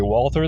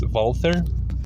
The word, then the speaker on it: Walther: Zea Middle East Germany although commonly people say Walther the correct German pronunciation is wther being an industrious settlement